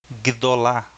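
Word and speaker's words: גדול: vogal Isso significa que o gimel e o dalet são considerados um encontro consonantal e por ISO são pronunciados juntos vees esses encontos consonantais são difíceis de pronunciar por is ao shá um som de um e bem gdol mas a palavra ainda tem Tecnicamente apenas duas sílabas já que guedo tem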